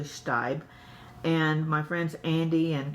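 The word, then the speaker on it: Staib: ship chef Walker stabe I mispronounced it stay but it's actually Stipe and my friends Andy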